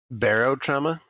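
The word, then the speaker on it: Barotrauma: it with your bottom Barrel trauma is how I pronounce it okay but maybe that's wrong I don't know Ellis what did you say Barrow trauma that's correct um it's a like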